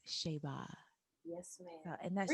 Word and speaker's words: Shayba: I always call her Shay or Shayba, and the correct pronunciation of her name is Shayba.